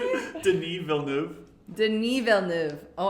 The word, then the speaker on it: Denis Villeneuve: Denis Villeneuve. Denis Villeneuve. Oh, I should know that because it's French.